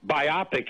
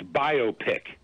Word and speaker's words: biopic: David my friend yes it's not biopic its biopic you know biography whatever I just put the emphasis on the wrong so I thank you